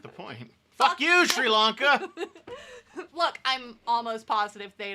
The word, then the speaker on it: Sri Lanka: Sri Lankan Tamil. Sri Lanka. There's no H in there. It's not the point. Fuck you. It's not the point. Fuck you, Sri Lanka.